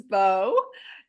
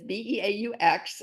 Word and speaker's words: Beaux: Everybody, this is Bo. He's my little handicap Pekingese, and his name is Beaux. Okay, so the French pronunciation.